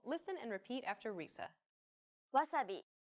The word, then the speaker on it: wasabi: be the same but don't forget that japanese isn't a stress-timed language like english so instead of stressing the second syllable like wasabi make it even throughout try again nearly all